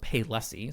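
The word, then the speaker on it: Palessi: Now, their secondary store was called Paylessi, so it's spelled P-A-L-E-S-S-I, so it kind of looks a little bit different.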